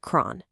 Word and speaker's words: chron: Here it is, c h r o n, pronounced cron.